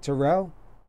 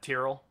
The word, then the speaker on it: Terrell: Am I saying your last name right, Terrell? That's the most common pronunciation, but my family's always said Tyrrell.